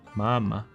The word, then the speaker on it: māmā: Or third, the full broad, as in tall. Example māmā. I think Market and Trade is an interesting section.